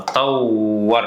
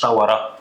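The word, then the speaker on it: طوّر: يطور الماضي هي نفس القصه، طور مش طوره، لا طور. مستر ما بعرفش انطق الشده، اقراها كده حروف خفيفه. طوره، في حاجه اسمها طوره؟ لا، هي اسمها ايه؟ طور. كل ما تلاقي الحرف رن معاك مرتين يبقى ده شده. طور.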